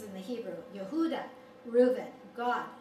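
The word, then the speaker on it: Gad: the hebrew yehuda reuben god and that's not this god but that's how you pronounce god asher naftali levy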